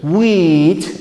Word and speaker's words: wheat: soya we have wheat remember this pronunciation wheat like white wheat dry Centennial we have